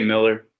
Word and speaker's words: Millar: Yeah, most people say Miller, just like the same way you pronounce it if it was spelled with an E, but I'm easy.